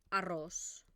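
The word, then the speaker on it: arròs: Uberta, por ejemplo, la palabra arroz. Arroz, ¿no? Arroz, que también se acentúa.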